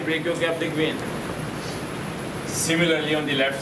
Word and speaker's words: brachiocephalic: Brachiocephalic, not cephalic. It's a wrong pronunciation. From plus 1, plus 2, you don't know. The teachers, they don't know what is cephalic and what is cephalic. It is brachiocephalic.